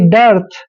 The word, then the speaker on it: dearth: next word है DEARTH, डी का उच्चारण डे करते हैं, ई ए का उच्चारण यहाँ पर ए के रूप में आएगा, यानी कि डे, और आर को रे लिखेंगे और TH का उच्चारण थे करेंगे और आर यहाँ पे रे के रूप में लगाएंगे, यानी कि डर्थ, डर्थ होता है अकाल,